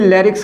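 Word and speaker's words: larynx: इसको भी लैरिक्स कहेंगे, एन साइलेंट है लैरिक्स।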